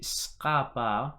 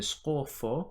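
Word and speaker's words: ܙܩܦܐ: Today's vowels are the skapa or the skofo. Skofo is the Western pronunciation, and the ptaha or the ftoho.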